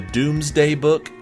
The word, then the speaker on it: Domesday Book: I believe it's pronounced the Doomsday Book, even though it's spelled the Domesday Book.